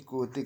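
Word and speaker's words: Quixote: study कर रखी है डॉन क्विक जट यानी कि कोते करके इसको प्रोनाउंस किया जाता है केरवास किसका है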